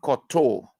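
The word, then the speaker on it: kowtow: You hear the men say, I will not koto in the powo.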